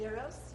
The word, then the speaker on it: gyros: The correct pronunciation is gyros.